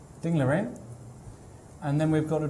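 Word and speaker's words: Ding Liren: I love how you say Ding Lirin, by the way. Ding Lirin? No, I think you pronounce it correctly. It just sounds very good.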